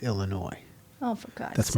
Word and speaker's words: Illinois: The S is silent. It's Illinois. Oh, for God's That's sake. my home state. Illinois.